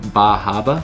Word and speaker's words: Bar Harbor: bar harbor in maine where as they pronounce it bajaba so once you arrive